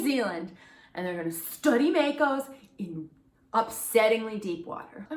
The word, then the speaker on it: mako: So Riley informed us that Makos it's actually Mako, and it's a Maori name that was given to them.